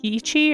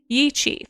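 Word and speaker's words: Yi qi: I always forget how to say it's like yichi or yiki.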